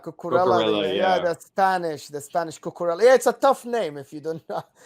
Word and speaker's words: Cucurella: Cucurella. Cocorella, Yeah, yeah.